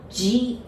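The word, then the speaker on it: じ: Za, ji, zu, ze, zo. But be careful with this G. I know it's a Z-I, but we pronounce it like G, J-I, all right?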